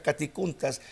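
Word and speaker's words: κατοικοῦντας: emplea la palabra caticuntas, se escribe catoicountas, se pronuncia caticuntas.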